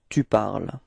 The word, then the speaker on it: tu parles: parle and tu parles, even if there is a small difference in the writing because you've got this final S for tu, it is the same pronunciation. So it's je parle and tu parles.